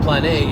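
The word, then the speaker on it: πλάνη: about the same way in Greek and it's pronounced plan a and what plan a can also mean is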